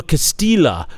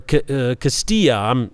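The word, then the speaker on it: Castelli: letter to uh benedetto Castilla or Castilla he's Italian not Spanish so the Double L I believe is pronounced and he wrote this in 1613.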